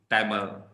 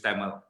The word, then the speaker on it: Tamil: Tamil. All right. Okay. Now that word in English is pronounced as Tamil, not Tamil.